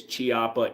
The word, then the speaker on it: Chiappa: Some people will say it's Chiappa. It's Italian. Italians use a hard k, like pecoraro, pecorino, scaletta, sk. It's Italian. It's always a hard k.